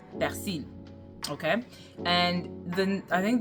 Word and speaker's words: persil: One thing that I wanted to mention was that they kept talking about le persil, and how Haitian could not pronounce the R in persil, okay?